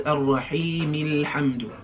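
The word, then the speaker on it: الرَّحِيمِ الْحَمْدُ: That means the alif is silent if we connect what comes before it, right? So when we connect this, it becomes Ar-Rahim Al-Hamdu, alright?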